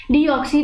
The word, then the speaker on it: deoxy: D means आपने सबसे पहले समझना है, जो डी होता है ना, डी मीन्स डीऑक्सी, इसको प्रोनाउंसिएट करना है डीऑक्सी.